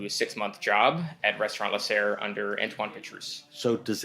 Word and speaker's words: Lasserre: And then how do you pronounce Lesser? Lesser.